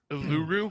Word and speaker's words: Uluru: Uluru. Pronounced Uluru?